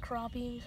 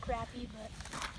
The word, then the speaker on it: crappie: I just pronounce it crappie. Some people pronounce it crappy, but it's by Luck Strike, so we're gonna test that last.